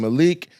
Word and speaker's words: Malik: Malik, bro. Hey, it said kafu. Yeah. M A L I K. Yeah. So correctly like in Malik. Malik. Mal. So So we all say it wrong.